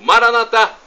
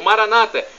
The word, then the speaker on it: Maranatá: E do aramaico eu clamo, Maranatá, como dizemos nós católicos, ou Maranata, como dizem nossos irmãos separados, os evangélicos.